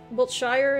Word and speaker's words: Wiltshire: All right, Wiltshire, Wiltshire, is that how you say it?